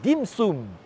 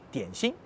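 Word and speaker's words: 点心: Dim sum est la prononciation en cantonais du mot dianxin, dian, une goutte, xin, le cœur.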